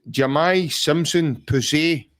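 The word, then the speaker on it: Jahmai Simpson-Pusey: So his name is Jamai Simpson Pusey. That's the way you pronounce it, and that's the way he's...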